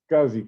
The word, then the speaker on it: SCSI: safe side i'll go to settings click on scuzzy that's how controller pronounce that scuzzy scsi guys you could